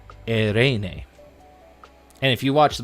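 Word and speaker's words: εἰρήνη: So, you just you can say it whatever you want, but I've been told it's been pronounced erene.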